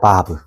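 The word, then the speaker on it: ו: 바브. 바브예요. 이렇게 쓰 보여 줄게요. 자, 보세요. 자, 요렇게 좀 왔다가 쭉 내려와요. 맞나요? 이게 뭐라고요? 바 바브. 그래서 바프라고도 하기를 하는데 보통 발음은 바브라고 하고 숫자값은 몇일까요?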